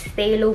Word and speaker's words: phthalo: Para siyang silent pH. So, it's phthalo blue.